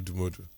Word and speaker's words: Odumodublvck: Yeah, I like the way you pronounce the name though, Odumodublvck.